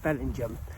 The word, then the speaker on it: Bellingham: 12 yeah yeah so um we stayed in Bellingham last night which is an odd pronunciation because it's spelled Bellingham but no it's pronounced Belling Jam um uh Dees is it Farm site lovely